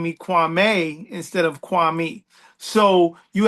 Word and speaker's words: Kwame: Tell me about Kwame, not Kwame. So Kwame, the original saying, the original pronunciation of the name is Kwame, and Kwame means born on Saturday.